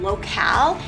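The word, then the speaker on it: lokal: Yes, I think it might be pronounced even locale. It's L-O-K-A-L.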